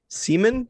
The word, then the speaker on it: Simon: stayed with a guy his name was simon but i guess you pronounce it seaman in uh germany so high school me